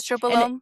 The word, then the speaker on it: estrobolome: it was like the estroblome. Is that how you say it? And Estrobolome, yep.